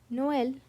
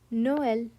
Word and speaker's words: Noël: But the tréma forces you to slash them apart and pronounce them as 2 distinct syllables. Without the dots, these words would blend into a completely different sound. With them, we split.